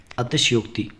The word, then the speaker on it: अतिशयोक्ति: अतिशयोक्ति, देखिए हम गलत उच्चारण करते हैं कई बार और हमको लगता है कि हम ही सही हैं, तो ऐसा नहीं होता। अतिशयोक्ति में कभी भी आधा शाह नहीं बनता है, तो ऑप्शन नंबर डी